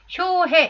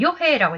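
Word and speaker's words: 与兵衛: 그 다음에 여기도 효해, 이거 찾기 힘들었을 겁니다. 이것도 역시 고유명사입니다. 이건 요해라고 읽어야 되는데요.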